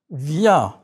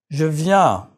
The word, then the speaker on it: viens: The N is not pronounced.